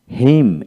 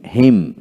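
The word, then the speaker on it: hymn: কান্টেম তারপরে column column তারপরে সলাম সলাম এন উচ্চারণ হবে না তারপর আসেন ড্যাম ডি am damn dam autumn autumn হিম হিম হিমনাল হিমনাল তারপর আসেন ড্যাম ড্যাম তারপরে ডিলিম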